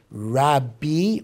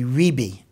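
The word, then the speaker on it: רבי: I mean obviously uh the pronunciation of the gemara or the mishnah is either Robbie or actually probably ribi is more accurate although Robbie is the way we commonly uh commonly pronounce it so where does rabbi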